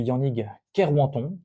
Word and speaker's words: Yannick Kerwanton: Alors me concernant, pour ceux qui me connaissent pas, je suis Yannick Kerwanton, je l'ai prononcé à la bretonne là, comme ça que ça se prononce.